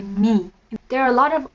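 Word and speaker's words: མིང: give you an example the word name in jonker is ming m-i-n-g but that's the written form if you want to pronounce it or say it you would usually say me there are a lot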